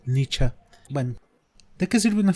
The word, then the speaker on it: Nietzsche: Nietzsche, o bien pronunciado Nietzsche.